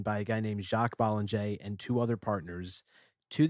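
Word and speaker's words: Bollinger: the bottle, everyone says Bollanger because that's how it's spelled, but it's French, so it's Bollanger.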